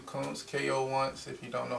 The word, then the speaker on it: Koonce: got oh yeah uh well my name comes ko once if you don't know how i spell it k.o once so uh and two underscores